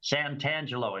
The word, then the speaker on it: Santangelo: All right, so Santangelo San Santangelo Say it like you hear it. Santangelo.